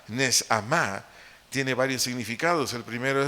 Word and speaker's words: neshamá: Esa palabra aliento del vocablo hebreo neshamá, N-E-S-H-A-M-A, acento en la primera A, neshamá, tiene varios significados.